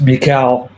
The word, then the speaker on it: mIEKAL: super excited about please welcome to this stage Michael and he does uh what what do you what do you do what do you do Michael uh well first of all it's pronounced Mikel oh my God I'm so sorry and um